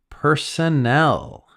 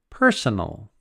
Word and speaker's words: personnel: arrived in Dublin emergency Personnel the this pronunciation is different than personal this is personnel and this talks about